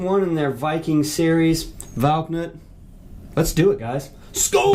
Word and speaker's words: Valknut: As far as all the whiskeys in their core lineup, this particular Valknut. This is the way it says it pronounced on Google.